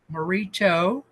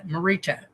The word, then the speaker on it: Morita: thousand times so far, but she says it rhymes with let's go. So if I mess it up, you guys can call me and say, hey, dude, be more respectful. Etsuko Morito. It's Morita. Etsuko Morita Fields is a